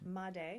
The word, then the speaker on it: Madej: Madej.